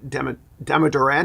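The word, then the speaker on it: Damodaran: the valuation guy is asth deodoran uh not uh Dem deodoran not deodoran okay I I mispronounced his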